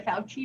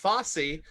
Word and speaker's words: Fosse: oh right nobody says i would love to see a fouchy musical frankie um it's pronounced fosse just watch cabaret but